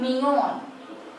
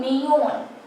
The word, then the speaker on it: millón: We write it as un millón. Double L is always pronounced as ya, but in some countries it is also pronounced as z, or say you.